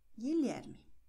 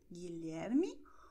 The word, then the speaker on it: Guilherme: Das heißt, unsere Beispiele sind Namen von Personen und werden wie folgt ausgesprochen: Gabriel, Diego, Gustavo, Miguel, Guilherme. Aufpassen! Miguel, Guilherme, U wird geschrieben, aber nicht ausgesprochen, ist stumm.